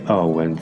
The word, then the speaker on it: Awen: We chant the Awen 3 times, and the word is chanted as 3 syllables. A, U, Wen.